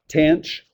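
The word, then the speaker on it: tanh: this one which um tanch is how we'd pronounce that okay it's going to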